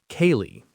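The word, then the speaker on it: ceilidh: Kaye, that's c e i l i d h. Yes, a sale is pronounced kaye.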